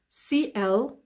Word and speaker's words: clamp: And as you can hear from my pronunciation, you can't hear the p when I say clamp down on. I say clamp down on, clamp down on, clamp down on. So I'm not pronouncing the p because p and then d is a bit difficult, isn't it, to pronounce.